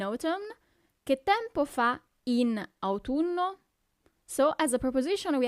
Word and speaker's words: autunno: Then we have autumn, autunno, autunno. So you really have to pronunciate those U's, okay?